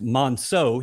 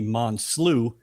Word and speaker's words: Monceaux: My name is spelled or pronounced Monceaux. He called me Monceaux for 6 years.